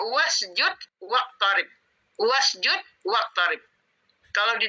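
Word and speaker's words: وَاسْجُدْ: wasud kenapa enggak dibaca WA usjud karena alifnya ini Alif bantu Kalau ada Wa sebelumnya tidak perlu Dibaca wausjud tapi alifnya tetap ada ditulis Jadi dibacanya wasjud waib wasjud waqib kalau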